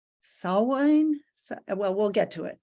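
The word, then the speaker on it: Samhain: or or uh it's I I always mispronounce um this but I think it's saw wine well we'll get to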